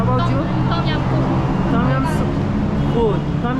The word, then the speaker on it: ต้มยำกุ้ง: ต้มยำกุ้ง How to pronounce that? ต้มยำกุ้ง Oh, Tom Yum Ko.